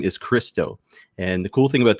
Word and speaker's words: Criostoir: So even though it's got the OIR in it, there is, like I said, it's pronounced Christo.